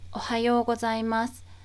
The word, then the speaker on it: おはようございます: おはようございます。おはようございます。おはようございます。About the pronunciation, u is pronounced u, but within おはようございます, the u is pronounced as an o sound, so the yo and u together make one long o sound.